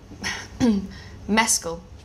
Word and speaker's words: Mescal: last name for me I'd like you to pronounce my last name I got it wrong Mescal perfect perfect you learned that from Andrew Scott